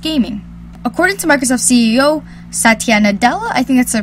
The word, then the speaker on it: Satya Nadella: aside from just gaming according to Microsoft CEO Satya Nadella I think that so pronounce it the hololens primary focus won't be